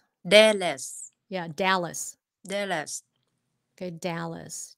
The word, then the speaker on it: Dallas: Cái Dallas, chứ không phải là Đà là... Cái cái đó Dallas. Là cũng là cái mà Việt Nam mình hay nói. Đà, thấy chữ E là cứ kêu là A.